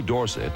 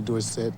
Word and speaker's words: Dorsett: to me as Tony Dorset and I liked it and anyway Dorset is supposed to be a French name and SE spells sit